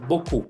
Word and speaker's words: beaucoup: Beaucoup termina con P, pero no se pronuncian. Muchas veces ustedes me quieren pronunciar beaucoup, pero es beaucoup, solamente beaucoup.